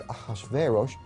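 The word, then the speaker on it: אחשורוש: Now that was hard for the Jews to pronounce, so they said Ahashverosh.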